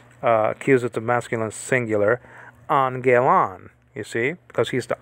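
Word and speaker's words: ἄγγελον: You don't say Angelon. You don't say it with the two G sounds. It's a gamma nasal. The first one, it turns into an N sound. So Angelon, right? Angelon. Angelon. Three syllables here.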